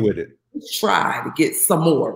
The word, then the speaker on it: Sommore: doing i said um you keep calling me samora i said and my name is some more he was like oh